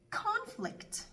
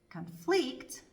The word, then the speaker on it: conflict: Если ударение стоит на первом слоге, перед нами существительное. Если же на втором, перед нами глагол. Давайте рассмотрим несколько примеров. Present – подарок. Present – дарить. Conflict – конфликт. Conflict – конфликтовать.